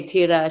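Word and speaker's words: Tyra: We just call her t because whenever we say tira, she's like, you can't say it right. It sounds too American. So, are you not, are you not rolling your R enough?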